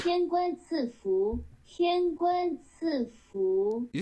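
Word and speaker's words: 赐福: So it is Sifu. Apparently, like A's have like an E sound in Chinese. Tian Guan Ci Fu.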